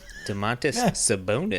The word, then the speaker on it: Domantas Sabonis: Domantas Sabonis.